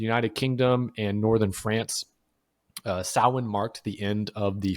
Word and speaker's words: Samhain: It looks like Samhain. It's Samhain, but it's pronounced Samhain.